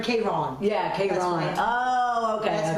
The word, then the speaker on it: Karen: Phonetically, how do you say Karen? K-Ron.